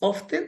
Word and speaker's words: often: often ah of is often not often right well some people pronounce often but it's uh it's it's okay to say both to to be honest it's more correct to say often often okay okay MW